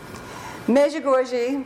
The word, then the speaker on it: Medjugorje: Medjugorje, that's the way Mickey, our tour guide, pronounced the name of his hometown.